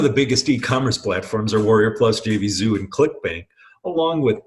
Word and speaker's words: Warrior Plus: It's usually abbreviated W+, but it's pronounced Warrior Plus.